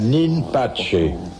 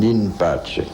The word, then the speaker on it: in pace: dans les monastères un in pace? C'est un nom italien, Pace. Non, latin. C'est du latin prononcé C'était plus à la latin romaine. qu'italien.